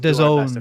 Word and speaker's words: DAZN: It's we'll DAZN, by the way. I spent an entire afternoon learning how to pronounce it, so it's DAZN.